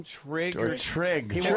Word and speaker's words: Trig: And by the way, the kid's name, she named him Trick. Isn't that his name? Trig?